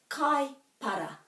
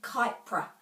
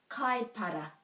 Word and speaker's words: Kaipara: One is kaipara. Kaipara. There are no silent letters in Te Reo Māori, so it can't be kaipra. Kaipara.